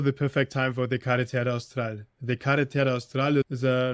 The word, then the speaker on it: Carretera Austral: The Carretera Austral, is how you say it?